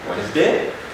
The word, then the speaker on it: Wednesday: country's spelling this one wednesday most of us really forget it's supposed to about here wednesday not wednesday wednesday no but wednesday wednesday then page not the d will not be pronounced then we have pledge